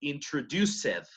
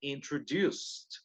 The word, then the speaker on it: introduced: Noten, aquí no pronuncio introduced, ¿no? Aquí pronuncio introduced, no se olviden. Pero aquí sí pronuncio defeated. Esta sí suena la E. ¿Por qué?